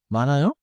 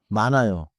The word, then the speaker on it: 많아요: Sometimes the two consonants split across the syllable boundary. 맞아요. 먼저 원어민 예문을 세 개 들어 보세요. 앉아요. 읽어요? 많아요.